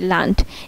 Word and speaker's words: Land: আর এখানে হচ্ছে LAND, লান্ড, এখানে ডি সবার শেষে আছে তাই এটা ট এর মতো উচ্চারণ হয়েছে।